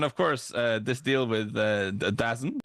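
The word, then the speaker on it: DAZN: He pretty much said uh then of course this deal with Dazzen which is how it's spelled. So that's how I'm going to say it.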